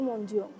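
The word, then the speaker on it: mendiant: kas dari Prancis he penulisan dalam bahasa Indonesianya itu adalah mendian Iya tapi karena bahasa Prancis dibacanya monjong I kalau di sana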